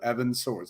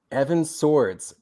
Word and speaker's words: Sowards: It is actually pronounced like two swords. So Evan Swords, like plural of sword. Evan Swords.